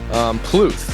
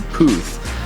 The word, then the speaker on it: Puth: you've heard so far Plouffe because there's no Ellen there Kluth it's like Charlie puth PU th you can say puff but Plouffe than anyone